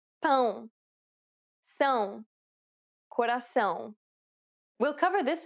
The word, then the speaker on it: pão: It is similar to the ow sound in English, but with nasality. Saying the word pound repeatedly may sometimes help with pronouncing the sound. But again, the best way is to listen to native speakers and try to imitate them. Listen to the following examples.